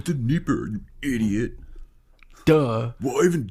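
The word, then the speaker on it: Dnieper: yeah I'll take them it's denipper it's the Nipper you idiot duh what even do a podcast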